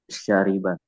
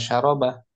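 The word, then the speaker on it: شَرِبَ: Kemudian syariba minum artinya wazannya apa? Fa'ila. Failak ini bacanya syarib jangan syaroba syari syariba kalau syarob ustaz gak enggak sesuai kaidah sarafnya oh tidak berjalan kaidah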